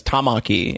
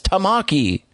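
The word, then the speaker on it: Takamaki: how the the the the Persona 5 English voice actors say an's last name is Tamaki and it's like no it's Tamaki and they just got to put emphasis on the wrong syllable.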